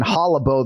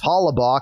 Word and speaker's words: Hollabaugh: that when I'm banging Hollow Beau this weekend and everybody thinks it's hollabaugh because it's spelled b-a-u-g-h kenflo you're the last